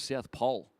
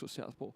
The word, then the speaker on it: southpaw: years ago or something I thought it was South Pole like why keep saying South how how did you discover you were saying it wrong I just had an epiphany one day when I knock the BL out mate yeah it's not it's blout I thought mate it's Southpaw thought about on Cricket commentators